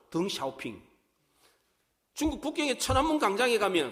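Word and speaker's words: 邓小平: 아주 유명한 정치인이 있었습니다 중국의 등소평이 사람입니다 중국 발음으로 등 샤오핑 중국 국경의 천안문 강장에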